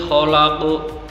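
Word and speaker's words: خلق: Nah, dalam membacanya itu dia dipantulkan, yang pertama secara ringan, yang kedua agak berat, lebih tebal lagi ketimbang huruf qalqalah qaf yang pertama tadi.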